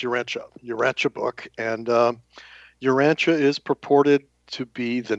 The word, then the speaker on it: Urantia: Um, we use the uh the pronunciation of Urancha. So, it's Uranchia Uranche book and um Urancha is purported to be the name of our planet.